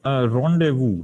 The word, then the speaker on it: rendezvous: It is called rendezvous, right?